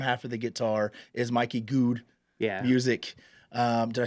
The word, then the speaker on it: Mikey Goode: And it's so cool, because it's like the top half of a guitar, and then the bottom half of the guitar is Mikey Goode music.